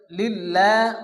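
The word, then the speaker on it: لله: দিয়ে বাতাস বাইর হবে আলহামদু আলহামদু আলহামদু এরপরে লিল্লাহ অনেকে আছে লিল্লাহ ল পড়ে এখানে আমরা আল্লাহর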